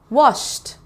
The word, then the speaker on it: washed: Number 2, washed, washed. Which column do you think? It goes in this one. Washed. Sounds like a T.